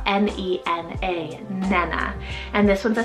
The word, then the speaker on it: Nena: Then for another four letter name here is Nena, spelled N-E-N-A, Nena.